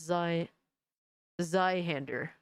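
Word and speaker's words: Zweihander: ass monetization zy Handler hander um maybe I'll remember but I doubt it zy hander is German so it's pronounced Z zhander I'm never going to remember this guys I'm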